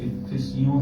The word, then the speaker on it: افسیوں: 4تھا باب افسیوں کا خط اس کا 4تھا باب یہ صحیح تلفظ افسیوں ہے.